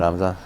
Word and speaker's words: Ramzan: Ramzan.